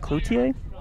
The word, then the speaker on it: Cloutier: Concordia number 9 is Jake Clouder. He seems to be a good pole that can clear the ball. I'm going to go with Cloutier on the pronunciation there, Coach. Yeah, a little more French.